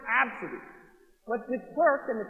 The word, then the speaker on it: Abcde: in this particular one is ABCDE Redford it's pronounced absent but this works and the ticket taker at